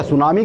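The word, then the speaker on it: tsunami: अच्छा, सुनामी का नामकरण भी सुनाम द्वीप से ही आया है, जो कि इंडोनेशिया में है। टी से प्रोनाउंस होता है ना, सुनामी की स्पेलिंग टी से शुरू होती है, तो सुनामी नाम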